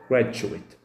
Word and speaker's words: graduate: ركز هنا في الكلمة ديت، شايفين graduate graduate graduate. في النطق الأولاني كفعل graduate graduate graduate graduate، نطق سريع مش بمد في الآخر، القوة بتبقى في أول الكلمة.